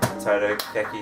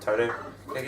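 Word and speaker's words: Totaka: surprised that they didn't put in uh um Toto Ki theme that's how you pronounce it Toto Ki theme do you know about that yeah so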